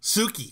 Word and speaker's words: Tsuki: How do you say Suki? Suki. It's Suki. Yeah, okay. Like an S. So you don't say the T? The T silent? No, see, I said the T for like a year, and it